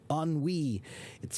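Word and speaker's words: ennui: So, for example, the word um the French word on an onwe, it's a word that kind of means like uh a feeling of internal uh sadness and boredom, right? If it's a feeling of like um you you it's like you're tired because you've been so bored. That's tiredness caused by boredom is on wei.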